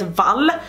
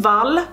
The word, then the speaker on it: Wall: 17th and Kim Valley it's spelled English wall but her pronunciation is Val so Kim Val was the Swedish journalist